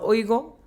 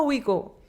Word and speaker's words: Ouigo: porque se escribe O-I-U-G-O, entonces yo pensaba que se llama Oigo durante mucho tiempo, hasta que te planteas en el tren y dicen, bienvenido a Ouigo.